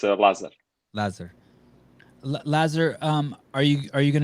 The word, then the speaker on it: Lazar: It's Lazar.